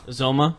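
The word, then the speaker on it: Uzomah: Is that how you say it? Uzoma. Yes.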